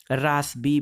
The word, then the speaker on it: Rossby: ये देखिए, स्पेलिंग है ROSSBY, रासबी वेव्स।